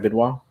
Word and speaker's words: Benoit: That is how you say your last name, right, Benoit? Yes, yes, Okay, absolutely.